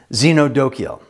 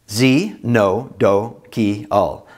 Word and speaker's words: xenodochial: proper pronunciation to make sure you're hearing and pronouncing the words correctly. Xenophobic. Z-no-pho-bic. Xenophobic. Xenodochial. Z-no-do-ki-al.